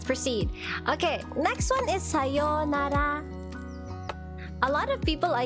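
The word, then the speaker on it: さようなら: Okay, next one is sayonara.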